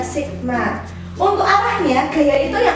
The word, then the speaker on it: sigma: Kayak gini simbolnya bacanya sigma.